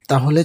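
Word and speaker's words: ت: বা, খুব সহজ তাই না? তায়ের উপরে 2টি নোক্তা। আপনার জিহ্বার আগা সামনের উপরে দাঁতের গোড়ার সাথে লাগিয়ে খুব মোলায়েম করে উচ্চারণ করুন। তা তা তা।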